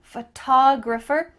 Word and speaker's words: photographer: That T-O-G, photographer, is emphasized. Photographer. When you're talking about the physical thing, a photograph, we're gonna emphasize a different part of the word, photograph. Do you notice that the first syllable is emphasized here? Photograph compared to I'm a photographer. Ph, that first part is small.